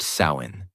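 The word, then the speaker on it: Samhain: The night of the festival called Samhine, pronounced sain.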